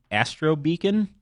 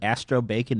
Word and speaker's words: Astro Beacon: Triple D one and I mispronounced in one of the episodes one of the star dragon world cards and it's be Astro beacon and I called it Astro bacon instead so now anytime about